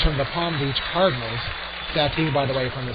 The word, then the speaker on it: Satin: It's spelled like Satin, S-A-T-I-N. The PA announcer called it Satine, and we'll go with that.